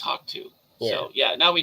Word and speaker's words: HAWK2: Yeah, it's just HAWK2 apparently. Like cockatoo. But I guess just HAWK2.